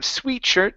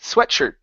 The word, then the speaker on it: sweatshirt: better okay right here instead of sweetshirt the word is sweat sweatshirt sweatshirt um through my